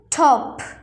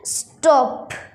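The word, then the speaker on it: stop: ঠ উচ্চারণ করি কিন্তু যদি টি এর আগে এস আসে তাহলে টি কে আমরা ট উচ্চারণ করব যেমন এখানে ঠপ ঠপ কিন্তু এস আসছে বলে স্টপ স্টপ শেষে পি এর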